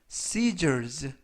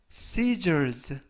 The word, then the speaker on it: scissors: 이번 표현은 scissors, scissors, scissors 라고 발음하시면 되겠고요.